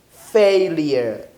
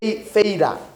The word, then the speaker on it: failure: pronounce this word pronunciation the pronunciation of this word is failure failure don't say fader failures no failure failure failure this is the condition